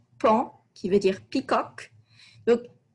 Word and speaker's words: paon: d'avis fier comme un noter la prononciation ici camp qui veut dire peacock